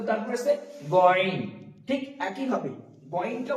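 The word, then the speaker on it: غ: তো তারপরে আছে গয়ন, ঠিক একই ভাবে গয়নটা উচ্চারণ হবে, গয়নটা হালকা কণ্ঠনালীর উপর দিয়ে, আইনটা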